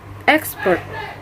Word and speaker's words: expert: The phonetics is located on the first syllable, and the meaning of this word is sehat. The fourth word is expert.